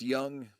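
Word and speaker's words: Jung: gonna split hairs because it's pronounced young but i know it's a j um i know i'm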